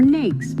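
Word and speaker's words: NAICS: American industry classification system or nakes pronounced like snakes this system was developed jointly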